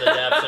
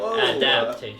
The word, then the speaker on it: adaptation: the same look whenever i said adaption and i'm like adoption's a word i'm like that's probably wrong i know i'm missing but i know i've always missed that syllable like adaptation like jewelry yeah yeah